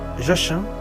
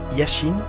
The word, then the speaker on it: Jachin: Vous avez deux colonnes, qui est d'un côté Boaz et Jachin ou Yachin ou Yachin, selon les prononciations.